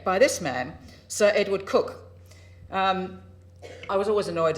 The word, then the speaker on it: Coke: very good effect by this man sir Edward cook um I was always annoyed as a law